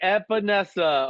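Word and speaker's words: Epenesa: AJ Epinesa.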